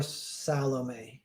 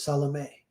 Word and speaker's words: Salome: And she goes, Salome. and I was like, that was great, but you're putting the wrong emphasis on the wrong syllable.